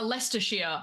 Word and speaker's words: Leicestershire: No, it's uh Leicestershire. If you look at like the OG spelling is Ledecestrescire or Ledecesterscire or something like that. It's like which is why it still has 18 like letters that no one uses because of the old spelling.